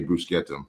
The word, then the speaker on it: bruschetta: Like if you're in Italy, they say brusquetum.